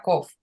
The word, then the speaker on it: Kof: ya lo habréis oído Cómo se pronuncia coff que es gutural vale está en la Esfera de hoz y todas las letras que están en la Esfera de Hot son guturales dentro del chira se pronuncia en la garganta igual que la led